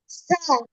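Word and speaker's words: ث: জিহ্বার আগা সামনের উপরের দুই দাঁতের আগার সাথে, ঠিক আছে?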